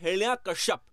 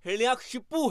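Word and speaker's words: हिरण्यकशिपु: अब दोस्तों यहाँ मैं आपको बता दूं कि बहुत से लोग इस नाम को अलग तरीके से इसका उच्चारण करते हैं, वो बोलते हैं हिरण्याकश्यप, पर असल में जो पुराणों में उल्लेख है उसमें ये नाम हिरण्याक्षिपु है। तो दोस्तों बड़े भाई का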